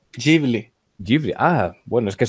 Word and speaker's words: Ghibli: ¿Cómo se pronuncia? Ghibli.